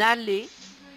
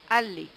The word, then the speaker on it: allée: dans le bois dans la forêt voilà une allée s'écrit a de l et E le E est mué ne se prononce pas une allée rallé alors pour ceux qui ne savent pas